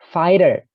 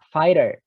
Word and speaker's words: fighter: Fighter. G-nya tidak dibaca. Fighter. GH-nya tidak dibaca ya. Jadi fighter.